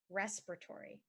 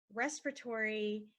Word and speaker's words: respiratory: you can remember it get some rest Tori you don't need to get a respiratory infection get some rest Tory